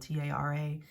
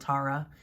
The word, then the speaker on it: Tara: I am kind of a stickler for name pronunciations, because my name is spelled T-A-R-A, and my entire life I've been called Tara, and my entire life I've said no, I am Tara.